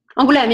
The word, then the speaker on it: Angoulême: this town, and you probably corrected me, but Angoulême? Angoulême, yeah.